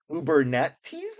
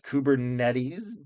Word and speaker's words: Kubernetes: So develop Python microservices to modularize backend logic and containers with Kubernetes is what I think it's pronounced.